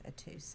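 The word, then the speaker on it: Atousa: It could be a Tausa, but it's Atusa. It's got to be Atusa.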